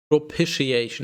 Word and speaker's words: propitiation: do you mean propitiation propitiation is apparently the pronunciation yeah the act of